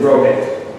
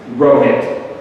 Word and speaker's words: Rohit: Rohit. Phonetically, it's R-O-W-H-I-T. Got it? But there's no W, so don't write that in.